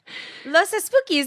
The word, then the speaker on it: Los Espookys: Do you find that acting, like Los Espookys, right? Yes. Am I saying that wrong? Los Espookys. No, you're saying it right.